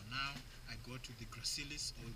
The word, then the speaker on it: gracilis: So now I go to the gracilis or gracilis. I call it gracilis because it's just spelled like that with a C though.